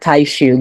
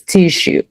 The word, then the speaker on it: tissue: So, why is it not taiishu, guys? The double s. Exactly. The double s. It's tissue.